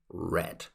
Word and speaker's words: read: read read and read be careful though for read it would be red so today I read